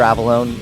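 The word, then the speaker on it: Avallone: I mean, just my name, Avalone. It's spelled A V A L L O N E.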